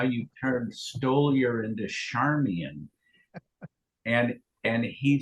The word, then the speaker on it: Stoliar: Did they call you Stolair? No, only if they want to mispronounce my name correctly. How is it pronounced? Stoliar, like stole your time slot or wallet or something.